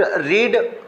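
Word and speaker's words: read: और dear student, रीड की second और थर्ड फॉर्म सेम लिखी जाती है पर प्रोनाउंसिएशन इसकी थोड़ी सी अलग होती है। रीड फर्स्ट फॉर्म रेड और रेड सेकंड और थर्ड फॉर्म होती है।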